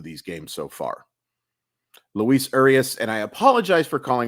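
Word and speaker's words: Urías: Luis Urias, and I apologize for calling him Arias as often as I do.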